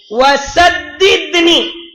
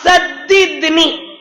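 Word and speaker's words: سددني: இந்த ப்ரொனவுன்ஸ், அத ஸ்பெல் பண்ற சீன் தால், தாலுக்கு மேல ஷத்து, பிறகு தால், சத்தித் புள்ளி இல்லாத தால், புள்ளி இல்லாத சீன் ஃபர்ஸ்ட், சீன் தால், தாலுக்கு மேல ஷத்து, தாலுக்கு கசர், பிறகு தால், நூனியா, சத்தித்னி, சத்தித்னி.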